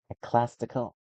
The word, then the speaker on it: ecclesiastical: Ecclesastical. Ecclesiastical.